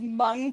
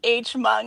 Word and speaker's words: Hmong: have like a massive mung population here and you know, I went to school with pe you know Mung people and so hearing it pronounced Hmung like just really threw me off there.